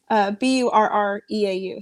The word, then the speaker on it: Burreau: Burreau. So it looks kind of like bureau with an extra R, but it's like the Burrow from Harry Potter.